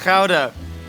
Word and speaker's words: Gouda: Okay, this is pronounced ka. Good. Try trying to make me mispronounce ka.